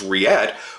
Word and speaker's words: Reate: of rillette and and the way that I had pronounced it which is riad was the proper way and what's funny is